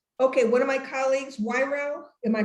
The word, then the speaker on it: Wairau: And okay, one of my colleagues, Wairau, am I pronouncing it correctly? Mm-hmm. Wairau, good.